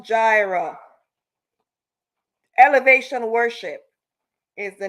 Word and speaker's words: Jireh: Jireh, it's pronounced Jireh.